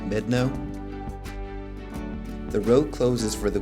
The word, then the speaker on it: Medano: I wasn't sure how to pronounce the name of the pass, so I verified with the park ranger that it's pronounced Medano.